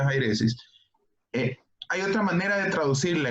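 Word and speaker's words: αἵρεσις: El griego es jairesis, pues ahí empieza con una, pero esa comita que tiene encima de la I, para que sepan, hace ver como una J, entonces se pronuncia jairesis.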